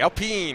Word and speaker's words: Alpine: more hours maybe you'll be in the lead Alpine Alpine sorry got it gotta make sure I say it correctly I'll pee in Esports seen our car for the Sebring 12